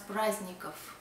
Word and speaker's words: праздников: We spell праздников, but we pronounce праздников.